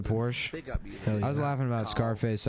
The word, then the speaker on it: Scarface: I was laughing about Scarface. I like to pronounce the name of that movie like you would the word surface.